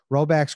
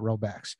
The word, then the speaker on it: Rhoback: Roback's quarter zip pullovers, and they're soft and they're comfortable as it gets.